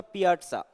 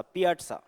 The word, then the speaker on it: piazza: इसका प्रोनाउंसिएशन होगा पियाट्सा, पी के बाद में आ की साउंड और फिर ट की साउंड, फिर सा, पियाट्सा।